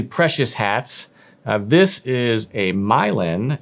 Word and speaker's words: Milan: hats this is a milin it's spelled Milan m i l a n but it's pronounced milin this is a braided